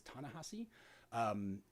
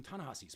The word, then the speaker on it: Ta-Nehisi: So I always want to say Tallahassee because that's an easy way for me to remember how to pronounce this name, but I believe it's Ta-Nehisi.